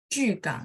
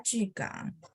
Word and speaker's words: 巨港: Iya, dia mulutnya masih sedikit bulat, baru pronunciation-nya lebih bagus ya. Jugang. Palembang ya, Bu ya. 呀， Betul ya. Jugang. 我是巨港人， Yes. 现在 Mm-mm. 住在现在住在巨港。 Jugang ya, mulutnya masih dibulatin baru dapat bunyinya.